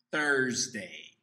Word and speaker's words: Thursday: outro dia que a gente faz confusão é thursday thursday normalmente é porque a gente fica muito ligado na escrita e aí a gente acaba confundindo que se você escrever os dois começam com t right ok então lembre-se quinta-feira